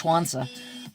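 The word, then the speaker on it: Sun Tzu: It's spelled S-U-N, I believe X-U or Z-U, but it's pronounced Schwanza.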